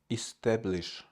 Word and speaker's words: establish: Okay, rush, rush, dish, dish, establish, establish, establish, establish, establish. The first syllable E is unstressed. Establish, establish, establish, establish, strong T.